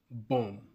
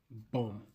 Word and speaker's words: bomb: This is pronounced bomb, bomb with the B silent.